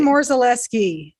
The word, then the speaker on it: Morzalewski: It's Morzalewski. Morzalewski. And even I'm mispronouncing it according to the Polish way of pronouncing.